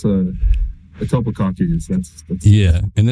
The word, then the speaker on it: Etobicoke: How do you say it? Yeah, it's Etobicoke.